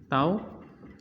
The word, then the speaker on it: tau: Ini adalah tau, bacanya tau, atau bisa juga dibaca dengan torsi.